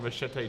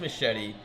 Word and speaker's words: machete: Like all the Machete don't lines.